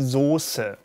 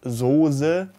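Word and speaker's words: Soße: that is incorrect and it should be the source not zozer but those with the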